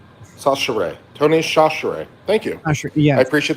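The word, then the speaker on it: Tony Chachere's: It's pronounced sash share. Sasher Tony Shashere.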